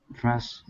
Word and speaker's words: brushed: At the end, the last sound will be a T sound, brushed. Brushed. Give me a T sound at the end. End of the word brushed. D sound at the end? A T sound, actually. There is a D, but we will say, we will use a T here.